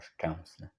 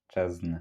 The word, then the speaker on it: Szczęsny: to pronounce the surname Szczęsny. Next after Ę is the consonant S. What's important is that it's a consonant which is pronounced like this: Sssss, a bit like... like the hiss of a snake: Sssss.